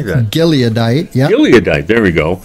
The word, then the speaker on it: Gileadite: so uh jetha was a the Gite G gadite gadite how do you say that gileadite yeah gileadite there we go and a mighty